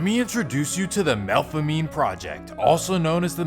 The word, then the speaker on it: Melpomene: First, let me introduce you to the Melpomene Project, also known as the Melf. Now, technically it should be pronounced Melpomene, but it's New Orleans.